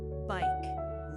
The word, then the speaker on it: bike: Bike, long I, silent E, like or hike.